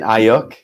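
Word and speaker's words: Aiyuk: very interesting and correct me if i'm wrong pronouncing his name uh brandon brandon ayook okay yes so watching him i know they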